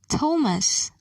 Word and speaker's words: Thomas: names listen and say these words thailand thames thomas note the letter t is silent in a few words listen and say